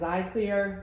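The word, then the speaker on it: Xlear: X-Clear, which is pronounced Xyclear, works well.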